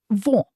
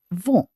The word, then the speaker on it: vent: The N at the end of the word is not fully pronounced. Example, wind. French, vent. vent Let's practice this soft nasal sound.